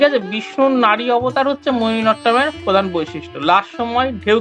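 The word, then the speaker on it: মোহিনীআট্টম: মোহিনী নাট্যম আমরা বলে থাকি কথায়, কিন্তু আসল উচ্চারণ হবে মোহিনী অট্টম।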